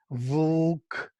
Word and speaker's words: vlk: You find it in Czech language, vlk, vlk, 3 consonants. And that is the, where L is the vowel, because it creates syllable.